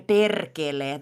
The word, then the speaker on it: perkele: Oh, Apparently, perkele. the English are not that... Yeah, Yeah. very good. Very good. Uh, Wonderful pronunciation, Azura. I will say that we also roll our R, or R, R.